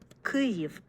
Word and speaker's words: Kyiv: It is Kyiv, like that. Kyiv, Okay, so that pronunciation involves a sound that we don't have in English, and I know there